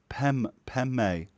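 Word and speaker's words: पद्मे: brackets Paymar Tibetans let Tibetans tend to pronounce the fourth and fifth syllables as PEM pen may I've never heard it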